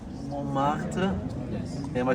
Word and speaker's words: Montmartre: I'm thinking of like Montmartre.